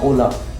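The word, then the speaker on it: hola: जैसे अपन बोलते हैं ना ओला, जैसे मेरी ओला स्पेनिश क्लास है तो मैं ये नहीं बोलूंगा ओला, ये होती है एच के साथ में, तो एच हमेशा साइलेंट होता है ओला।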